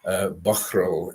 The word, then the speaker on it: Balmoral: And Balmoral was, it was first recorded as Bushmoral in 1451, which is pronounced actually Buchral in the Gaelic-speaking terms.